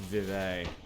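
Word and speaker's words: Vivec: in I was a Vivek is it Vivek or is it actually like Vevey or something someone once told me it's pronounced viv a yeah and the wizard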